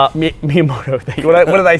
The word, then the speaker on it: Miyamoto: me in Twitter for not being able to pronounce Japanese names. So you correct me on the fly here. Miyamoto. Miyamoto.